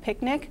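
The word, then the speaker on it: Picnik: And another site that Google owns for editing is called Picnic, which is spelled horribly and I hate it, but I love the service. So it's P-I-C-N-I-K.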